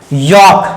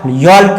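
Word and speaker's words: yolk: यॉक, यॉल्क नहीं है, यॉक, Fock, यॉक, Fock, यॉल्क नहीं पढ़ेंगे क्योंकि ए के बाद एल है, तो एल वर्ड क्या हो जाएगा? साइलेंट।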